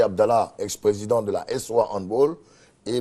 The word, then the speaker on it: handball: Oui, handball. Il faut dire handball. Ouais. C'est une prononciation. C'est plutôt allemand. Allemand. Non anglophone. Non. Voilà, c'est pas anglais. C'est pas anglais. Donc faut plutôt dire handball.